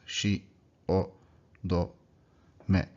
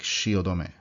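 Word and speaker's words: 汐留: So you have to pronounce it in the 4 syllables. Shi, o, do, me. So it's like shiodome, shiodome.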